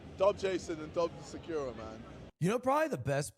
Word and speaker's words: Sakura: I mean, yeah, I think Sakura because it's not like uh an emphasis language. So, you don't you don't go Sakura or Sakura. It's just Sakura.